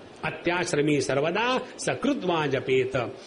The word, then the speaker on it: सकृत्: सकृत कहना, शकृत मत कहना। हमारे जो गुजराती और बंगाली बंधु हैं, उनके उच्चारण में बड़ा आनंद आता है। पहले बंगाली बंधुओं की बात बताओ। स को वो श कहते हैं बंगाली बंधु।